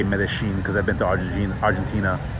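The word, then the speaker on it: Medellín: But, you know, Argentinians like to say Medellin. Guys, I'm not trying to confuse you. I'm in fucking Colombia. I'm in Medellin, Colombia. Just have to say Medellin because I've been to Argentina, and they pronounced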